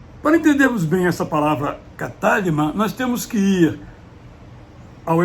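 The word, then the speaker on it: κατάλυμα: Escreve-se cataluma, uma transliteração direta, pronúncia em grego é catálima.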